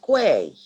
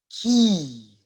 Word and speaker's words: quay: It's not quay. No, it's not quay. It's key or K.